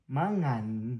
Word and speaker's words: mangan: M a is ma. And then the other word is ngan. Mangan.